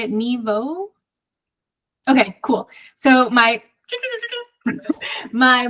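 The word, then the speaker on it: Nghi Vo: by oh Chris how do you say it Neo Okay cool so my my book for January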